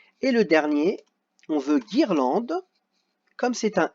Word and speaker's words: guirlande: Et le dernier, on veut guirlande. Comme c'est un I, si je mets seulement un G, ça fera girlande. Donc il faut que je rajoute le U pour marquer guirlande.